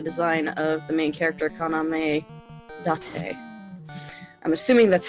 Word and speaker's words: Kaname Date: Because his last name is spelled like date, and my brain just wants to go, date. His name is Date. Kaname Date. Kaname Date, yes.